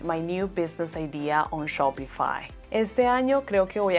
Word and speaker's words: Shopify: Su correcta pronunciación es Shopify, Shopify.